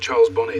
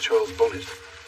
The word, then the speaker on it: Charles Bonnet: or sometimes even people it's called Charles Bonnie syndrome absolutely although it's often mispronounced Charles bonnet so you have atherosclerosis